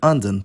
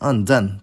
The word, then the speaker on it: anden: the description box, was the phonemic difference between anden, “the duck”, and anden, “the spirit”.